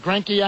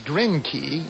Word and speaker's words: Greinke: What were the chances you were thinking of with Greinke on the mound? Huh? Who a lot of people pronounce Grinke, even though it's an E, not an I.